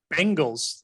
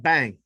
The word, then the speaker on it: Bengals: supposed to be pronounced bengals like some guy named ben you gotta know like ben not bang it's not bang like